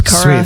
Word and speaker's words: Kara: Is it Kara or is it Kara? No, you got it. It's Kara.